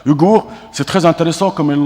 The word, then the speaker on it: Ouïghour: Vous savez, langue Yagour, c'est ça? Ouïghour. En fait, je prononce mal. Ouïghour, c'est très intéressant comme une langue, mais c'est une langue actuellement en cours de disparition, en fait.